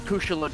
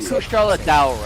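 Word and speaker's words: Kushala Daora: It's also not Kushalador, or however they say it. They say Kushala. They say Okay. Kushala Daura, actually.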